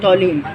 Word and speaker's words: toluene: हम क्या कहते हैं, टॉलिन। ये TOLUENE है, ज़रा स्पेलिंग में ये देख के लिखिएगा, टॉलिन है, टॉलिन।